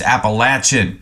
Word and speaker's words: Appalachian: that apple AA Appalachia Appalachian I don't know uh I know some people might have a opinion on that one oh yeah anybody from that area it's appalachin fa and yeah timy